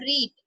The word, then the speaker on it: read: तो क्या गोपाल ने पुस्तक पढ़ी, तो हमारा सेंटेंस क्या होगा, did Gopal not रीड, okay it will be रेड, spelling will be same पर हमारा सेंटेंस क्या होगा, रेड।